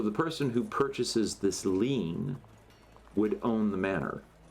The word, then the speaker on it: lien: So A lien? a lien, or a lien, if you want to use the more posh pronunciation.